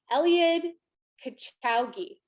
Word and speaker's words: Eliud Kipchoge: Eliud Kipchoge.